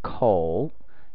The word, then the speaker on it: 口: This part, it is pronounced as 口.